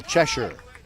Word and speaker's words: Chesher: first pitch strike to Michael chesher Yes pronounced just like the cat in Alice and Wonderland here's the 01 swing